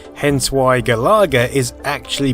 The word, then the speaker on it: Galaga: Another similarity is the name, hence why Galaga is actually pronounced with an emphasis on the la in the same way you'd pronounce Galaxian.